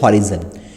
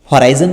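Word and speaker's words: horizon: इस लाइन को बोलते हैं हॉरिजन, हॉराइजन भी बोल सकते हो, थोड़ा प्रोनाउंसिएशन का फर्क होता है।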